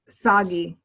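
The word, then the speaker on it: Sagi: So, other people who want to do either Autumn or Saggi's workouts, is it Saggy or Saji? Jess, can you help me? How do you say his name? Soggy. Okay, I was saying it right.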